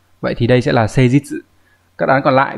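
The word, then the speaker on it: 誠実: Phần bên phải là chỉ cách đọc, như vậy đọc là C, chữ thực đọc là jitsu trong từ jitsuwa chẳng hạn. Vậy thì đây sẽ là C jitsu.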